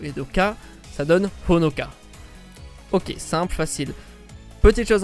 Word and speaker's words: Honoka: Et là il y a une petite subtilité, c'est que même si c'est un H, il faut le prononcer en japonais. Le son Ho est différent du son O. S'il y a un H, ça veut bien dire qu'il faut prononcer, qu'il faut faire ressortir le H et que ça se prononce Ho.